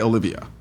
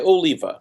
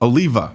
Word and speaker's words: Oliva: didn't I you did you butchered my name but you got my first name right which is usually the hard one sorry about that man sorry about that okay so how do we say how do you how do you say your last name Oliva Oliva okay okay gotcha I tried to call you Olivia I'm sorry next thing